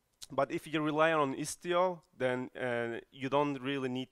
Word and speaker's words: Istio: And this time it's pronounced correctly, because everyone can say Istio, I guess, correctly.